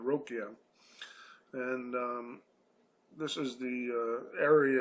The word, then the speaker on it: Ruqya: So we are talking, of course, about this Ruqya, or Rokia, I guess is the correct pronunciation, Rokia.